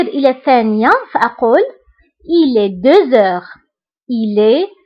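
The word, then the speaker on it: deux heures: فبالنسبة هنا أيضا غتلاحظوا أنني قلت 2 heures هنا نطقت لا لتر زد مع أنها ما كايناش. pourquoi؟ باسكو عندي اش، باسكو عندي لا لتر اكس كتبعها اش، دونك كندير لا ليزون وكنقرا 2 heures. 2 heures. داكوغ. كنطق لا لتر زد مع أنها ما مكتوباش باسكو درنا لا ليزون.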